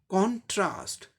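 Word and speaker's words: contrast: तो ये नाउन की तरह प्रयोग हो रहा है, इसलिए फर्स्ट लेवल पर स्ट्रेस है, यानी फर्स्ट लेवल को जोर देके प्रोनाउंस करना है। कॉन्ट्रास्ट, कॉन्ट्रास्ट, कॉन्ट्रास्ट, ये ब्रिटिश इंग्लिश में हो गया।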